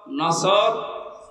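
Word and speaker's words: نصر: এজন্য তেলাওয়াত যখন করবেন উচ্চারণটা মুখ গোল করা লাগে আল্লাহ পাক জানিয়েছেন যখন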